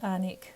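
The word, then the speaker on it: Alnwick: barter books is an amazing secondhand bookshop in anik in the north of england in my last video i said chizik is pronounced as chizik without the w just like warwick and anik it's this anic that butter books is located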